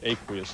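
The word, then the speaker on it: aqueous: I believe it's aquous is the correct pronunciation.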